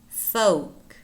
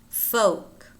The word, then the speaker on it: folk: and words in which the L is not pronounced calf calf chalk Chuck should should half-half talk talk folk folk pong pong wood wood salmon salmon in British